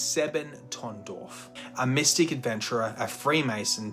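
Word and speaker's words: Sebottendorf: The society was founded by a man named Rudolf von Sevendorf, and I'm going to say that name wrong. It's Sebentondorf, a mystic adventurer, a Freemason, deeply obsessed with Sufism, astrology, alchemy, and runic magic.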